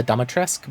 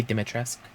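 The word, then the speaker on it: Dimitrescu: say that name uh it's either uh demetrius or dometresk uh the way they pronounce it in the game is uh dumatresque but i think someone said that that's technically wrong in the like actual language and it's supposed to be dimitra's another one for the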